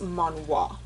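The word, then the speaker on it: 만화: it's manga, but pronounced manhwa.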